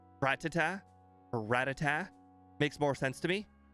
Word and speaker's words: Rattata: But I found out where everyone got the wrong pronunciation for Rattata. I found it out. I was watching the anime, and at the very end of the episode, I was listening to the Poke Rap, and the guy said Rattata Pidgey. Rattata Pidgey. Yeah, that's where everyone got it. It's because it rhymes. Everyone got the wrong pronunciation for Rattata because it rhymes. Well, it rhymes in the Poke Rap.